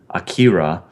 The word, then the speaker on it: Akira: I listened to how they were saying it in the movie. It's not how I normally would have said it, but I was like, that's the pronunciation is different than I expected.